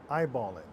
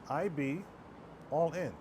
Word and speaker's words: iBallin: iBallin. 2 letters. IB. 2 words. All in. See? It's quite simple but powerful. IB, all in.